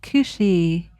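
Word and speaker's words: cù-sìth: that up and it's spelled c u s i t h but it is it is pronounced cushi and I will link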